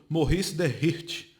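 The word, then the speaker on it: Maurice de Rothschild: outro Barão também judeu morrice de Ritchie e assim pronuncia Maurice comente escreve aqui em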